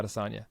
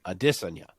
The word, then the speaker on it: Adesanya: Whenever he's on Ariel, they at some point will broach the topic of how his name is actually Adesanya.